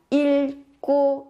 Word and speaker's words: 읽고: cô ita ấy, thì các bạn cần chú ý các bạn đọc giữ lại một cái phụ âm dưới để đọc và các bạn phát âm là il cô isumnida.